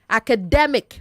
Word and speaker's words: academic: Academic not academic. Academic. Stress de not a.